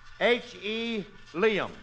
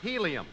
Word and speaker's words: helium: H.E. Liam. Curly, that's pronounced helium.